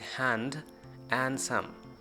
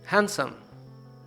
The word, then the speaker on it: handsome: word is handsome but most of the people say it hand and some but actual pronunciation of this word as handsome grandson wednesday sandwich not